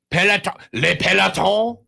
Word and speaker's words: le peloton: And because they're in peloton, le peloton, I believe is how you say it in French.